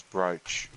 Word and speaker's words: brooch: Think about how book and food are pronounced. The double O sound is not consistent in English.